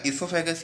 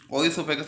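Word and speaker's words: esophagus: ये ईसोफेगस, ये काफ़ी जने इसको ओइसोफेगस बोलते हैं। ये ओइसोफेगस नहीं है, इसकी सही प्रोनाउंसिएशन ईसोफेगस ही है।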